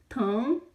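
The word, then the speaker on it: 疼: Tongue, tongue, tongue, tongue.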